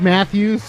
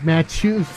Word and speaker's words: Matus: Um, Mike Matthews. Hello. I'm sorry. It's Mike Matus. Yeah, Aaron spelled my name wrong. He didn't put an H in my last name.